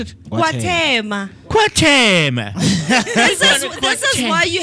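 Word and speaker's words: KwaThema: How do you pronounce it? Kwatembe.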